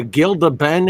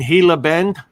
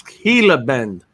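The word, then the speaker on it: Gila Bend: looks at me like you mean hila Bend I said well why don't you spell it like that it's spelled g i l d what H Gilda Bend it's heila Bend like eloh yeah man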